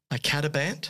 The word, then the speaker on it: icatibant: This particular drug is called now I'm probably going to mispronounce it, icatibant, I think that's right, or I think the product name is Firazyr, okay.